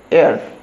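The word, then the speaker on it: heir: অ্যান এয়ার, সবাই এ এয়ার করে চলে আসে, এটাকে হেয়ার পড়ে, হেয়ার, এইচ ই আই আর, হেয়ার পড়ে। বাট এটার অ্যাকচুয়াল উচ্চারণ হচ্ছে এয়ার, এ আই আর, এ আই আর যা প্রোনাউন্সিয়েশন হবে এটার উচ্চারণটাই তাই হবে, অ্যান এয়ার। তো এইচটা সাইলেন্ট থাকছে, এইচটার উচ্চারণ হচ্ছে না।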